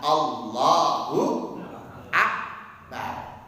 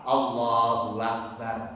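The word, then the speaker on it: الله أكبر: Tulisannya Allah ada tasdidnya Allahu Akbar. Jangan sampai salah-salah. Allahu Akbar.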